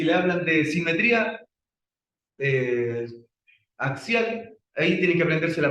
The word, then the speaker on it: axial: Y axial, fíjense que ocupa, aquí voy a ver, A, X, I, A, L. Ahí dice axial. Oh, ¿sabían eso, cierto? Así se escribe axial. La X. Esa X en el, suena más a una X latina.